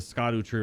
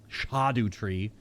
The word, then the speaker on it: Scadutree: the base of the Scot tree right now shadu tree my brain's never going to pronounce a c as an H uh so is this